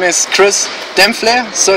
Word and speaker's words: Dempfle: we want to know exactly how your name is spelled holy spell ok my name is chris dem phlegm so it's very interesting because it's gets bad